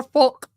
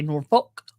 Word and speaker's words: Norfolk: control of the nor Northfolk I want to say Norfolk County I didn't say that word I said it right that's how they say it toxic is amazing see